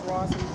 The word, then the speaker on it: Rosalyn: My name is Rosalind. How do you spell it?